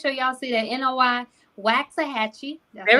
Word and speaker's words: Waxahachie: So make sure y'all see that NOI Waxahachie.